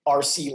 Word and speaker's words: Arce: for everything is RC live so my middle name is a tricky one it's spelled Arce so it's just multi